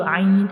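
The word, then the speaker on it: عين: Ain is pronounced from the middle part of the throat, and ghain is pronounced from the upper part of the throat.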